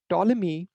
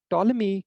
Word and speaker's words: Ptolemy: solved by ptolemy so ptolemy is spelled like this but it's pronounced as uh t-o-l-e-m-e-e that's that's kind of how you pronounce this name so ptolemy five centuries after aristotle